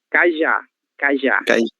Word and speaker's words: cajá: Cajá. Ok. Cajá. Certo? Assim como você leu sofá e crachá, esse já aqui ele é tônico, então é cajá, certo?